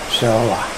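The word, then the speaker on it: Seollal: Solar. Well, just, yeah, okay. It's solar. Korean New Year. Yeah. You can hear me sounding it out, right? It actually is pronounced as it looks.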